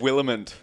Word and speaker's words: Williment: Did I pronounce your last name right? It's Williment.